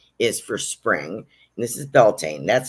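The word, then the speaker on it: Beltane: so this one is for spring this is belan that's how I pronounce it it's b l t a n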